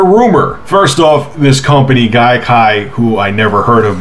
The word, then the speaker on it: Gaikai: I'm pretty sure I said it right, it's Gaikai. Sounds like conjunctivitis or some kind of infection you would catch.